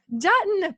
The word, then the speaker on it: Juetten: to my friend, Juetten. And, remind me, how do you say your last name? I should have asked ahead of time. Is it It's Juetten like button. Juetten, perfect, like button.